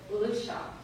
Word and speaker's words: Lucia: My mother, and it says Lucia, but they pronounced it Lucia, had varied jobs around the house.